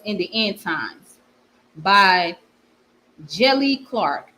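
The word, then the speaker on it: Djèlí: Jelly Clark. So the D is silent.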